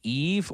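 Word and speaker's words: Aeve: Am I pronouncing your name right? Is it Eve or Ave? Are you able to hear me? I'm able to hear you. We got you. Thank you. And I go by Ave as a play on atheist.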